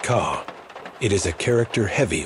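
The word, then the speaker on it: 空: Pronounced ka, it is a character heavy with Buddhist meaning,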